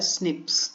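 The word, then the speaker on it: SNPs: आपको याद करना है प्रोनाउंसड ए स्निप्स तो एस एन पी जो है इसी को स्निप्स के उच्चारण करते हैं इसका और यह ह्यूमन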